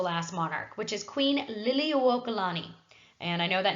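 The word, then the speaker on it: Liliuokalani: us to the last Monarch which is Queen Lily okalani and I know that name looks really difficult but it's a lot easier than you think it is pronounced Lily uo colani so Queen Lily okalani is going to be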